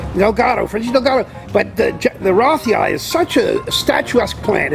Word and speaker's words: rothii: because he was American and the naming goes after the way the person, how they pronounce it themselves, it's Roth. So it's Rothi.